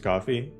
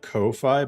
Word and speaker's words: Ko-fi: don't really promise way it's pronounced coffee yeah have you ever have you never noticed the The Coffee logo everyone calls it Kofi but go look at